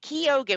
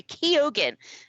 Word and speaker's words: Keoghan: Barry Keoghan, which I kept pronouncing his name wrong. Barry Keoghan.